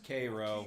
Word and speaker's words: Cairo: Louis, It's pronounced Cairo.